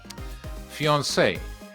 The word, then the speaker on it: fiancé: Fiance. The two words that we see here are pronounced the same way, but the one means the male and the other one the female.